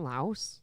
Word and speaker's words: Laos: Is it not Laos? There's the S is silent. I always thought it was Laos.